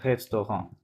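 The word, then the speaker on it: restaurant: রেস্টো ওকে, ভেঙে ভেঙে করবে, তাহলে লাস্টে টিটা সাইলেন্ট থাকবে, রেস্টো ঘ।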